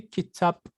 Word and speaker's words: kitabı: So what I do, Kitabı. I say kitap, but I also make this P a little bit softer. I change it to kitabı.